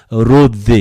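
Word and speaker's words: Ῥόδη: 그럼 뭔가 이 누가, 사도행전을 쓴 누가가 뭔가 목적이 있어서 이름을 썼을 것 같은데 로디 이렇게 현대 그리스어로 발음하는데 장미라는 뜻입니다.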